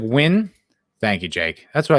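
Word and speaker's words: Nguyen: surface of io win it's pronounced like win thank you jake that's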